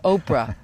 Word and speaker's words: Oprah: You said, Yes, I wasn't sure you said, who Oprah. this person was. You said, Oprah, how do you spell that? Which I loved. And I actually spelled it. I said O-P-R-A, the H is silent, and the H is silent.